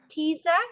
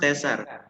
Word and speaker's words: Tessa: let me ask teaser is that correct sorry it pronounced tessa ah okay that's very